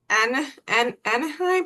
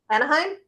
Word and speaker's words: Anaheim: Anaheim. How do you say it? Where Disney is in California? How is it? Anaheim?